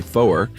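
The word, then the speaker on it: four: 4 is 2 syllables, rhymes with lower, so you would say foer. Sounds kind of funny. To differentiate it from, F-O-R.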